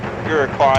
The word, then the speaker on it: Iroquois: on let's go go ahead and close these you're car is how you pronounce the aircock iroquois station would you call